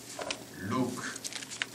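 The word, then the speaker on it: Luke: 바랍니다 사도행전에 저자는 누가 루크 또는 옛날에 누가 하면은 그 옛날에 누가 사탕이라는 얘기를 가지고 누가 사탄을 생각했는데 영어로는 루크라고 발음하고 이탈리아어로는 루카라고 말하거 나 프랑스어를 하는데 이제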